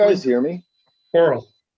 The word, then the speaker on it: Korell: Coral. Like coral Coral? reef. Okay. Coral reef.